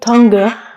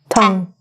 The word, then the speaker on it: tongue: a little difficult um it looks like Tonga but it's actually just tongue let's practice that first